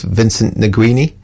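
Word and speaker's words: Vincent Nguini: And there's the guitar of, see if I can pronounce this correctly, it's Vincent Niguini.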